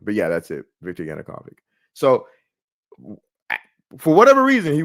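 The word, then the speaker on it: Yanukovych: I always mispronounced this guy's name, but yeah, that's it. Victor Yanukavic.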